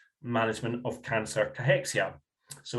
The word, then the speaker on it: cachexia: But it's c a c h e x i a is how you spell it.